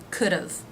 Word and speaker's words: could've: For example, could, have, could've, of. Separate extra syllable at the end, could've.